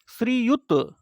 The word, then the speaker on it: श्रीयुत: स्वर रहित ना है लेकिन यहां क्या है श्रीयुत पुराता का पूरा प्रयोग करते हैं उच्चारण में ता पूरा उच्चरित होता है श्रीयुत तो श्री